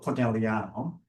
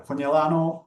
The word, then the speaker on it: Conegliano: the center of it, around the town of Conegliano, Valdobbiadene, this is how it's pronounced, is where we are. Conegliano, Valdobbiadene.